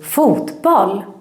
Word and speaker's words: fotboll: But the pronunciation is very, very different. We say fotboll. In Swedish we need to put a stress on every word in the compound word.